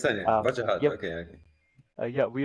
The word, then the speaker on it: Wajahat: Nice to meet you, Wajahat, right? That's correct, spot on. You Wajahat, mentioned Wajahat. it, you pronounced it pretty accurately.